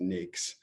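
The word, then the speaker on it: NAICS: use the anics classification it's pronounced NES um and that classification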